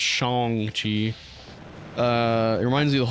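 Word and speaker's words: Shang-Chi: a point about that in the movie It's pronounced Shong Chi uh it reminds me of the whole a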